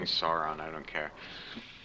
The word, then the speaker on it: Sauron: Lucas, is it pronounced Sauron or Sauron? uh, technically it's Sauron. That sounds gross. I'm saying Sauron, I don't care.